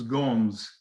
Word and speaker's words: Gomes: a z in spanish gomez is gomes in portuguese sanchez would be science